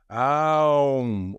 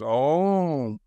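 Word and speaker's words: ॐ: Now, you will find spiritual masters and gurus who say it must be pronounced Aum. Others who say it's Om or whatnot. You can have so many different ways of doing it. And you're totally technically correct that it's actually a three-syllable word in Sanskrit.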